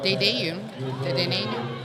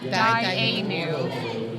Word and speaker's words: Dainu: Yes, and we have that Dayu. I keep mispronouncing it. Dainu.